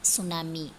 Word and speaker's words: tsunami: Answer, here T is silent. SU su NA suna, MI me tsunami.